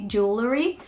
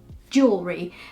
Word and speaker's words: jewelry: I can't say because if I say how I see it I'll probably say jewelry and trying to pronounce the L so I have to completely forget that there's two L's and an e in the middle and just say jewelry so yeah it's another